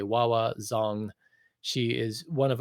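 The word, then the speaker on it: Hua Hua: If you don't know her, her name is spelled Hua. Wawa Zong.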